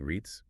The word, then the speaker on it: REITs: paying stocks I'm not even sure how to pronounce that are we saying REITs yep REITs stands for real estate investment trusts